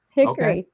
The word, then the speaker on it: Hickory: Hickory. Okay. We make it a 2-syllable word here.